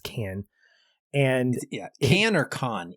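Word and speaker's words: Cannes: which debuted at canned is it can I never can pronounce it it's can and yeah Han or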